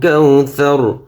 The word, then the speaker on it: কাওসার: কাউসার আমরা বানাম করার সময় পড়ছি কি কাউসা র, সা জবর সা, র জবর র, কিন্তু ওকফ করলে উচ্চারণ হবে কি কাউসার, কাউসার।